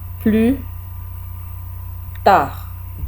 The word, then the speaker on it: plus tard: अगला वर्ड है plus tard, D pronounce नहीं करना, डी साइलेंट है। plus, एस भी नहीं सुनाई दे रहा, plus tard, plus tard,